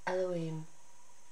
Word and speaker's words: YHVH: And from Habukkuk, YHVH Adonai, pronounced Elohim, my strength.